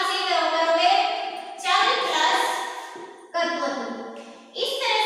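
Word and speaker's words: क्त्वा: त्वा, कत्वा में भी क हमारा क्या रहता है? साइलेंट होता है, और इसमें बच जाएगा त्वा।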